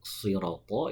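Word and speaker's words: صراط: Nah, sering kita jumpai membunyikan huruf shad dalam lafadz siroto itu dibaca siroto. Yang betul si ya. Siroto sama tadi juga to sudah disinggung, juga termasuk huruf tebal, maka cara bacanya harus diangkat.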